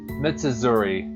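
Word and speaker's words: 美綴: Mitsuzuri. It's 4 syllables.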